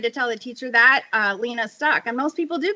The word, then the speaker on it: Leena: And she said, "Leena." And I just kind of said, But that is actually not my name. My name is Leena.